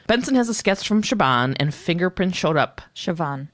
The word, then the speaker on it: Siobhan: has a sketch from Siobhan and fingerprint showed up Siobhan oh my God I can't believe I wrote Shaban this whole time why was I saying Shiva it's spelled Siobhan but it's stupid it's